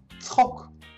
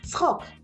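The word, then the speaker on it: צחוק: Tzchok. Tzchok. It's that ch again. Very funny. For English speakers, by the way, a ts is also pretty hard.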